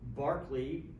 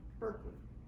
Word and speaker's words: Berkeley: with that sure barkley would be fine uh barkley uh the idealist was the guy they named a particular university after in uh california but they mispronounced his name as does everybody else they call it what berkeley he's a philosopher anyway uh in physical monism